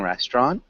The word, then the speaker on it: restaurant: to a very interesting restaurant. Yes. Okay. So I'd say we need to change restaurant a little bit. So it sounds more like that. So it sounds like there are only two syllables.